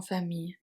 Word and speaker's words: famille: The final is of course silent.